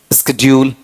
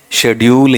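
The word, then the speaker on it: schedule: इसका उच्चारण वो मत कर देना। स्ेड्यूल। स्ेड्यूल किस में है? अमेरिकन में है। ठीक है? अपने वाले में स्ेड्यूल है या शेड्यूल है? शेड्यूल ही है।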